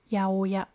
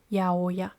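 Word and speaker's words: 八百屋: it is pronounced as yaoya. The original word was a monoya and abbreviated as aoya. Over time the pronunciation turned into yaoya.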